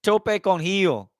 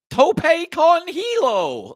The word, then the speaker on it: tope con hilo: It's tope con heel. Tope con hilo.